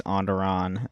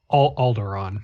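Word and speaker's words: Alderaan: Andderon. Um, Aldderon or Andderon? Aldderon.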